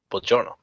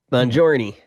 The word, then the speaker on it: buongiorno: Buongiorno or something like that. Well, right, but Buongiorno.